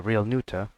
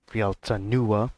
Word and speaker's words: Realta Nua: Alright, welcome back to Fate's Day Night Realta Nua Edition, or Real Nuta, or Realta Nua Ultimate Edition, there you go.